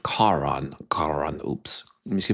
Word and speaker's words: Karaan: Um, but he pronounces it Kon.